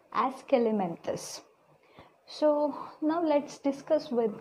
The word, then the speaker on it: Aschelminthes: Okay, how to pronounce? Aschelminthes.